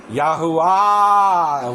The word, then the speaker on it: Yahuwah: So we got the first two syllables, Yahoo. Right. If Sar means prince and Sarah, A-H, princess, and they quit using the divine name, or Hashim, what A sound would make it feminine and them not use it that name? Ah is the last syllable. Yahuwah would be why they wouldn't use it anymore.